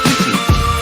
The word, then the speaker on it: Pucci: Christine, I'm hoping I'm saying Pucci. That's Puce. In Italian, the C is pronounced the sh sound, right?